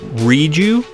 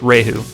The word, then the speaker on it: Rieju: a new video is born it looks like reedu but it's pronounced rahu and if you're thinking it's just another knockoff